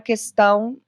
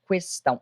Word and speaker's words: questão: questão do presidente ah a palavra questão pode ser pronunciada como questão H registro dos dois usos na língua portuguesa registro formal por dicionários tanto de questão quanto de questão o bolsonaro ele erra